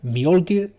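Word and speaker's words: Mjölnir: Mjolnir is correct pronunciation.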